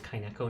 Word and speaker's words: Kaineko: When I saw the name, the word N-E-K-O, I thought it was Nico my whole childhood growing up. It wasn't until I was like an adult I found out it was Neko, so I do try to pronounce it as Kaineko now.